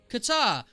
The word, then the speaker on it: Qatar: Pronunciation. Hold on, I'm gonna get it. Oh, Kuta. Yeah. Hold on. Qatar.